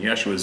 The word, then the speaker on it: Yeshua: In Yeshua's name, I pray, Amen. Yeshua is Hebraic pronunciation of Jesus.